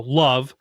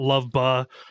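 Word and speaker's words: LOVB: I need to keep reminding myself that like they did an entire thing about how you pronounce it. It's not Love Ba, it's not Love B, it's not all those things.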